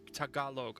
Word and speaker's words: Tagalog: I'm gonna say it and I'm gonna mispronounce it because I do every time. Tagalog. Tagalog. Yes, you were close. Tagalog.